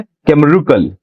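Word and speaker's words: chimerical: Next word देखिए, अगर आप देखो ये वर्ड साउंड, ये दिखने में केमिकल जैसा लग रहा होगा, ठीक है, पर इसकी प्रोनाउंसिएशन है केमरुकल। क्या वर्ड है?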